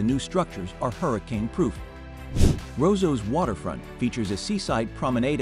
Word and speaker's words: Roseau: framed by Lush Peaks dominica's capital of Roseau pronounced Roseau is a colorful jumble of West Indian cottages